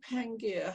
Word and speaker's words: Pangaea: going back to your is it pangea or pangaea how do you pronounce it pangaea angie yes your experience of pangaea